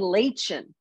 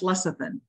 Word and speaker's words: lecithin: oil because right and lay chin lachin is that how you say it less of them well it's spelled lachen so if you see that that's still not good right are you talking about l-e-b-i-t-h-i-n that's lecithin well l-e-i I don't